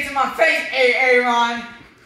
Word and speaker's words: Aaron: well you better be dead sick or mute a a ROM here why did you say it the first five times huh so it's pronounced Aaron go up and say it to my face hey Aaron say right here say right say right it's